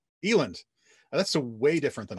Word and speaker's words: Eland: I'm butchering it a night it's fine it's eland Eiland that's the way different than I said got